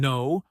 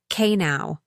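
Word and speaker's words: know: English has many silent letters like the K in no or the B in lamb. Yes, beginners often say K now or lamb B. But in English, we do not pronounce those silent letters.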